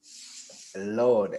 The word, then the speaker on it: Laud: mess it up bro lord l-a-u-d get it right please you know the a you makes the all oh you got [